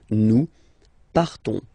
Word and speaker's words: partons: So classic ending ONS, you don't pronounce the S, you just have this on sound nasal. Nous partons.